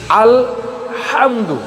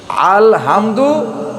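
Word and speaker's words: الحمد: ভিতরে আপনারা দেখবেন যে আল হামদু এখানে আলহামদু জায়গায় অনেকে বলে আলহামদু অথবা আলহামদু আলহামদু এখানে এখানে লামটা ছুটবে না লামটাকে ধরে রাখতে হবে আলহামদু আলহামদু এই হাই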